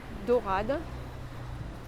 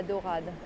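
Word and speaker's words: Daurade: basilica eglise de la dorada it's spelled d-a-u-r-a-d-e but it refers to the fact that there were golden mosaics as in dore in french d-o-r-e there was a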